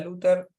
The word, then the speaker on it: Luther: vieron que yo puse el Luther que es como una una que es como se pronuncia el apellido de abajo en el nombre de los hijos está el apellido como es originalmente con TH pero se pronuncia con una d un poco más fuerte en alemán pero después se latimizó